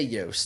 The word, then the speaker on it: Yost: I say Yost. Yost, David Yost. It's spelt like Lost, so it's Yost.